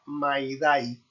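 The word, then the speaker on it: mayday: La señal radiotelefónica de socorro estará constituida por la palabra maidai, pronunciada con la expresión francesa maider en español med. No May ni May.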